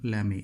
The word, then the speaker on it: Lamy: it as lami but actually it was a french scientist bernard lammy l-a-m-y who was bernard lamy but not lamy was a french scientist